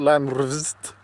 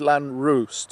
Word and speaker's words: Llanrwst: it was the U the W being pronounced as a u so it's like it's not land resist it's land rest apparently it's land Roost it's ooh sand let's